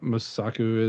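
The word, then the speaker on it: Mosaku: Um, I think those are the two that I know Musa Musaku is how you say her name.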